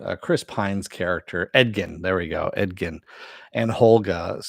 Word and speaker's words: Edgin: you say his name uh Chris Pine's character edgin there we go edgkin and holga so holgas